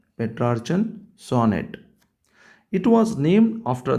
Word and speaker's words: Petrarchan: Look at the pronunciation. Petrarchan sonnet.